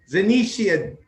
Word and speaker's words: Zanisha: Zanisha, did I say it right? Yes, it's just Zanisha.